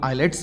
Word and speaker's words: IELTS: में नहीं मिलेंगे आल्स जिसे कि लोग आईलेट्स भी कहते हैं जिसके उच्चारण में एल साइलेंट होता है इसे आई ई